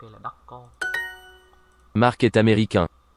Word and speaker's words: américain: Chúng ta cùng phát âm ở cái American nhé. Américain. Đó, nó có một chút âm mũi ở trong đó, âm an.